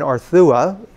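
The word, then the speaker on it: Arzúa: We had arrived in Arthua. The Z in the name is pronounced Th.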